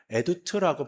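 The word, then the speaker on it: עדות: 여기서 증거라는 단어는요, 히브리어로 에두트라고 발음을 합니다.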